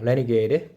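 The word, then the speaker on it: RNGD: as you didn't choose the furiosa RNG pronounced a renegade and confilience accelerator for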